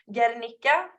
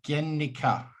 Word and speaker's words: Guernica: pronunciation is not going to be exact, but as long as you don't pronounce the U, I'm happy, I guess. So Guernica.